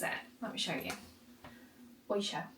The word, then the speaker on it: Oysho: Oysho. Oysho, O-Y-S-H-O.